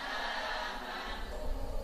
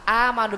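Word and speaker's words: آمَنُوا: penuh illal ya Bu amanu sama amanu bukan amanu tapi amanu dibuka kita ulangin wailus shhati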